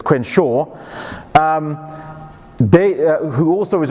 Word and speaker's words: Crenshaw: and Kimberly Crenshaw who is also hey also mispronounced the name there so it's Quinn Shaw um they who also was responding who's also